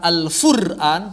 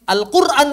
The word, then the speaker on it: Al-Quran: Bukan Al-Fur'an, tapi Al-Quran bacanya. Beda titik doang.